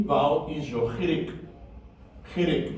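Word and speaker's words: חיריק: Then your short E vowel is your chirik.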